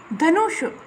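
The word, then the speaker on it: धनूंषि: नु बड़ा है, नु के ऊपर आपका क्या है, अनुस्वार है, और शी आपका जो है वो ऋस्व है। आपको ध्यान रखना है उच्चारण कैसे होता है और कहाँ दीर्घ है, कहाँ ऋस्व है।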